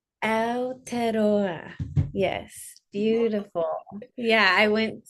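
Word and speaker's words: Aotearoa: Aladora. Alterora.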